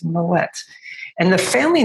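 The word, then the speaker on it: Moët: and they said no no no it's not my way it's moet and the family name is actually dutch in origin so the moet family was from flanders so kind of modern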